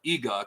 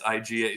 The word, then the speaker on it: IGA: growing up like IGA my parents used to call it EGA because it's you know the Polish people that like EA we're going to the EGA grocery store it's IGA so pronunciation wow pronunciation